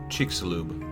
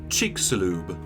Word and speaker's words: Chicxulub: Pronounce it? Chicxulub. Chicxulub. Chicxulub.